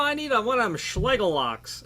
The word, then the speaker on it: Schlage: I need one of them Schlage locks. You know, I need one of them Schlegel locks. And I don't know how to pronounce it, but I've always heard it pronounced Schleg.